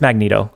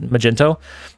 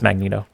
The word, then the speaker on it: Magneto: no no really Martin I know it's Magneto um for whatever reason Bings thinks it's really funny to pronounce it Magento and I I saw